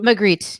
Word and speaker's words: Magritte: Clayton's rebuttal echoes Renee Magritte. Is it Renee Magritte? How do you... Magritte, yeah.